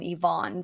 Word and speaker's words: Yvonne: And I should be better because nobody ever knows how to pronounce my name, or they make going to Starbucks, grabbing a coffee. It's always Evan rather than Yvonne.